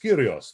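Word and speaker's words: κύριος: was known as the curios which of course in modern greek and church greek is pronounced kirios this is the as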